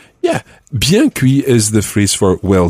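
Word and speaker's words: bien cuit: cooked or well done and something like say biancui yeah biancui is the phrase for well done as opposed to apoe meaning medium or senior meaning rare so biancui means well done literally well cooked so the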